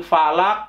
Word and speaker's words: Falaq: atau belum dibaca yang benar full a'udzu birabbil Falaq Pearl valak Mbak itu coffee itu termasuk salah